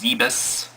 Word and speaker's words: Zebes: And apparently it's pronounced Zebus. now, but I still pronounce it Zeebs because I'm old school like that.